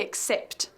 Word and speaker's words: except: Decimos except for, pronunciando bien la P y la T al final de except.